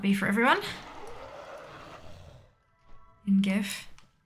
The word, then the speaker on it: GIF: be for everyone and gif jiff or gif look apparently the creator said it was jeff but like if it's pronounced jeff maybe spell it jeff um well buddies